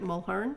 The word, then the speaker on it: Mulherin: So, my name is Audrey Weston, and today I am interviewing Mulherin, also called. Did I Yes. say it right? Mulherin?